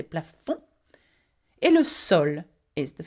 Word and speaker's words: plafond: Okay, we do not pronounce the D at the end of this word. We don't say plafond, we say plafond.